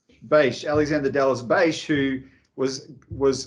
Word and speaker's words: Bache: Is that how you pronounce it? Bache. Bache.